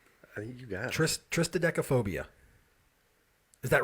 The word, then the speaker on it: Triskaidekaphobia: Triskaidekaphobia. Is that right? Did I say it right? There's no... There's no second T. Triskaidekaphobia. Triskaidekaphobia.